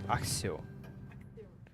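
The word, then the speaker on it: Accio: В оригинале он говорит Аксио. Аксио. Да, но по идее это пишется типа как через C. И она не читается? И она не читается, и получается типа как S, то есть типа Аксио.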